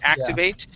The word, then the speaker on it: activate: as an example so if I have the word activate I'm I'm going to pronounce that both T's okay the activate uh that first T and the second T activate Okay now if I then change that to activated okay that second T will then assume a D